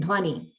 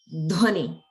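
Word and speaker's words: ध्वनि: And notice the dha, dha plus va in dhvani. So that's a mahaprana, the dha. So that's something that you can practice to pronounce as dhvani.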